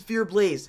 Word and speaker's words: FearxBlaze: And that's why I always say the X is silent, because it's more there for decoration. Like when we had our clan, it was Fear Blaze, Fear Legend, Fear Storm, Fear Haze.